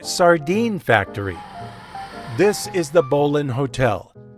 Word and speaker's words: Bowline: Factory this is the Bolin Hotel it looks like it should be pronounced bowline but in a nod to its nautical history it is named for